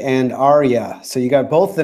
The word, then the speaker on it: Arya: my $250,000 in Bitcoin please thank you it's pronounced Gendry and Arya so you got both the names wrong but